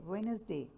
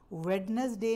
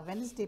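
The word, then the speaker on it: Wednesday: वॉज अ वेनसडे morning इसमें D silent है वेनसडे वेडनसडे नहीं पढ़ा जाता वेनसडे पढ़ा जाता है इट वॉज अ वेनसडे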